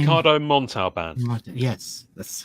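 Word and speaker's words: Montalbán: um Ricardo an what's what's his name Ricardo montau band yes that's how you say it yes yes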